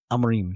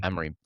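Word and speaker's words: Amorim: The post match, what Amarin is that? How you say his name? Amarin or something? Ruin Amarim. Amarim.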